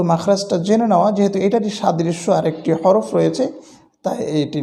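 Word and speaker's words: ص: পারলে এটির উচ্চারণটা ঠিক হয়ে যাবে আর এটির উচ্চারণটা সাধারণত আমাদের ভুল হয় না শুধু মাখরাজটা জেনে নেওয়া যেহেতু এটারই সাদৃশ্য আরেকটি হরফ রয়েছে তাই এটি নিয়ে আমরা আলোচনা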